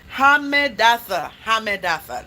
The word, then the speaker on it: Hammedatha: Hammedatha. That's how you pronounce it.